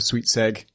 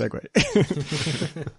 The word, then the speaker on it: segue: purpose right there yes they call it like a sweets egg and people write in to them occasionally saying actually it's pronounced segue yeah I mean you